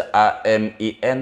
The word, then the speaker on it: amin: Mau ibu tulis A-M-I-N jadi. Yang penting dibacanya amin.